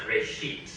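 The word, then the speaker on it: בראשית: Genesis comes from a Hebrew word. It's pronounced reshit, and it just means beginning.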